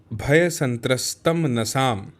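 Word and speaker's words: भयसंत्रस्तमनसाम्: फिर अगला शब्द है भय संत्रस्तम नसाम, यानी डरे हुए मन वालों का, यानी भय संत्रस्त मनसाम, ऐसा इसका उच्चारण होना चाहिए।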